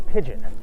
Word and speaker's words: pidgin: That is a very basic idea of what's called a pidgin. Sounds like the bird, but it's not spelled like the bird.